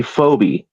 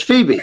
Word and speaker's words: Phoebe: my conversation with Brett, he called me Phobe. It's Phoebe, which is forgivable, but blew me away.